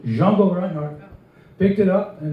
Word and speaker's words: Django: But anyway, Stefan Grappelli and Django, that's the correct pronunciation, Django Reinhardt, picked it up, and they had a recording with High Club of France.